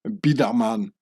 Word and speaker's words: Biderman: and from now on I'll pronounce the name bamman in its real Swiss German form bidaman like saying J Edgar